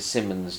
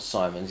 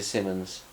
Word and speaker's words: Simons: I think it's Rita Simmons, not Simons. It's spelt like it's Simons, like Paul Simon spelt his name, but stick an S on the end and all of a sudden it's become Simmons.